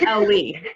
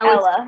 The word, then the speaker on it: Ella: Oh, it's Ellie. I'm mispronouncing Ellie. Ella. It's Ella. Oh, Ella, okay.